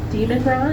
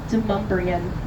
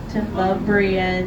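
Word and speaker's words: Demonbreun: It is actually pronounced Demumbrian. Yeah, if you want to southernify a French word, there you go. It is Demumbrian Street, everybody. You all want to say it together? Demumbrian.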